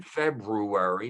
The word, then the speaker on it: February: president it's for president minimally two born in february notice i pronounce both ours um as in library and